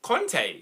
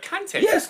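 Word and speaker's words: Kanté: in the Chelsea game the commentator was calling him con instead of kante and I'm like what why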